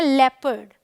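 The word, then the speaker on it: leopard: इसे देखिए एल ई ओ, इसे हम बोलते हैं लेपर्ड, ठीक है। तो ओ का यहाँ कोई रोल नहीं है।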